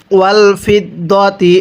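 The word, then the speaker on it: والفضة: ওয়াল ফিদ্দাতি, এটাকে ফিদ্দাতি পড়লে পড়াটা সহি শুদ্ধ হবে না, দত জবর দ পড়তে হবে।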